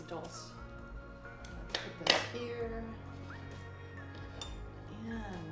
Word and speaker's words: dulse: I might have said dulce before. If I did, that's incorrect. It's dulce.